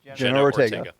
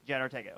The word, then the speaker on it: Jenna Ortega: So then Jenna Ortega, how do you pronounce her name? Jenna Ortega. Jenna Ortega.